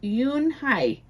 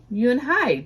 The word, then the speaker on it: Unhei: Yes, it's pronounced Yunhai, and it means grace, Mr. Kim nodded. Yunhai, Joey said slowly, and this time perfectly.